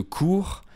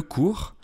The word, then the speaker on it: cours: au mot masculin le cours, comme par exemple le cours de français, qui s'écrit C-O-U-R-S. Ce sont des homonymes, ils se prononcent pareil parce que le S final est muet en français, mais ils ont une écriture différente.